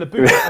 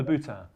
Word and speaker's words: Louboutin: It's Christian Louboutin.